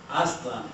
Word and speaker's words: Aztlan: Aztlan is the Nahuatl one, right? I want to join my campaign about all the mechistas. And it's pronounced Aztlan, Aztlan, Aztlan, Aztlan.